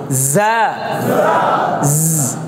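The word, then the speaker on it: ز: জিম এবং জালের মাঝামাঝি কি যা টা হচ্ছে জিহ্বার আগা নিচের দাঁতের আগার সাথে লাগবে জিহ্বার আগাটা কোথায় লাগবে নিচের দাঁতের আগার সাথে লেগে আপনি দাঁতকে কাছাকাছি রেখে একটু জিহ্বার আগে দিয়ে ঠেলা দিবেন জা যা এই যে কেমন হবে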